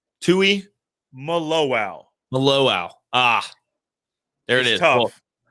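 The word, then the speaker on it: Tuimoloau: you taught me how it's said, but JT Tua Maluau? Tui Maluau.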